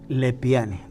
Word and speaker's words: Lepiani: pero mi apellido es el p n y lepiane tú lo tú lo pronuncia bien y es de procedencia italiana es